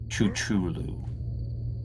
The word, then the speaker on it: Cthulhu: huge m and whispers, "It's pronounced chuchulu cuz I like trains."